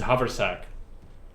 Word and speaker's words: haversack: It's, I'm gonna tell you, it's haversack. That's how it's said. I don't know how it's written, but that's apparently what they call it.